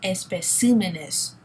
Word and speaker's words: especímenes: Los especímenes. So again, the tonic syllable has changed. It's no longer on P, now it's on C.